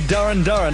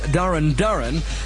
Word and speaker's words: Duran Duran: That's a new entry, Duran Duran and another called Planet Earth.